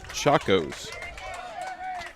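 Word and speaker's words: Chacos: foul tip back into the screen got a pronunciation on the sandals it's chakos oh I guess I guess it I guess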